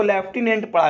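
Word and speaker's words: lieutenant: कई लोग समझ गए होंगे कि लिक्विडेंट लिखा होगा, कई लोग क्या समझ गए होंगे? लिक्विडेंट लिखा होगा, लेकिन नहीं, इसको लेफ्टिनेंट पढ़ा जाता है।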